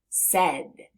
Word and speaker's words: said: Now if we look in the middle of the word, we see an A and an I. But we hear the sound E.